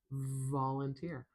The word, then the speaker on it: volunteer: Volunteer.